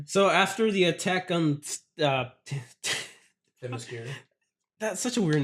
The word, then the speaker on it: Themyscira: You just butchered it on purpose now. You were saying it properly earlier. Was I? Themyscira. Themyscira.